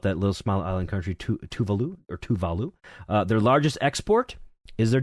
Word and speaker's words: Tuvalu: Or Tuvalu, yes. I believe is how it's pronounced.